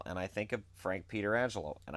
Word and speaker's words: Pietrangelo: And I think of Frank Pietrangelo, and I could say Pietrangelo, not Petrangelo, because that's how he pronounced it.